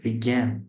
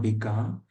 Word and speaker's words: began: Began, not begun. Begun would be this, begun. But what I have written here is began. This, begun. Swim, swam, swam. Drink, drink, drunk. Like this. It's pronounced like began.